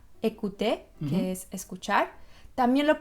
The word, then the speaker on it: écouter: Y entonces la primera situación en que vas a pronunciar E es cuando la E tiene un acento aigu. En francés, l'accent aigu. Y este acento lo puedes encontrar al principio de una palabra como en la palabra écouter, que es escuchar.